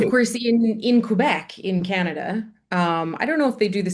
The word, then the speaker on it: Canada: How do you say the name of your country itself? Canada. So you are saying Canada, Canada, Hmm. Canada. And what we Canada. Indians do is we say Canada, Canada.